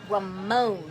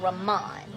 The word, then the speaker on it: Ramon: His name is Ramon, and I've been saying Ramon.